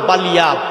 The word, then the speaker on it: বালিয়া: কিন্তু ওনার নাম হইল বালিয়া। উচ্চারণ করেন জবানে, বালিয়া। কেউ কেউ বলেন বিলিয়া। এই উপরে জবর আর নিচে জের, এইটা বেশ কম।